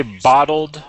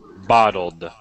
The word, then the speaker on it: bottled: Could you say bottled for me, Barani? Bottled, with a D at the end.